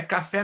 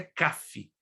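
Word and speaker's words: כף: do 81 a 88 não é café não como você pode ler café mas é Cafe então caf do 89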